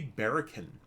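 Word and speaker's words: Barachen: actually it would be barrican because a c h in tolkien is always pronounced as a k like karkaroth uh the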